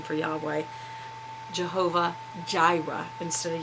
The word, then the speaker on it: Jireh: which is also the name for Yahweh Jehovah Jireh instead of yaira and that is how we pronounce it and what does it mean the